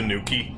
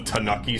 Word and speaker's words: Tanooki: around up there yeah they could have at least spelled at EEE to force the pronunciation like they did with the Tanooki suit the game of the two O's so we go to new key instead of tanake suit like we have no